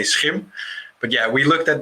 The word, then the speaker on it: SCHiM: Yeah, and there's a couple of pronunciations that are correct, because shim and skim are also okay, because internationally it's a bit hard to say SCHiM.